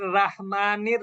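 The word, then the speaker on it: رحيم: এরপরে এখানে শুধু আমরা একটা ভুল করে ফেলি, রয়ের উপরে জবর থাকলে আমরা বাংলায় রয়কারে রা লিখি। যেমন অনেক জায়গায় দেখবেন বিসমিল্লাহির রহমানির রাহিম লেখে, রাহিম। কিন্তু আসলে কি হবে? রহিম। রহিম।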